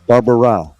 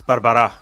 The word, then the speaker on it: Barbara': hate doing that so I'm going to say Manuel Barbara close it's Barbara but uh you know